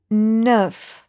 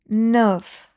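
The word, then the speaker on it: neuf: Nine in French is nerf. Nerf. If you see here this E and U, we also notice them here in the D. Okay. N the nerf. Nerf. So you make your lips round.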